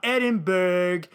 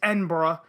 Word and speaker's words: Edinburgh: tv festival and yes that is how you pronounce it it's not edinburgh it's edinburgh uh speaking of the edinburgh tv festival bbc's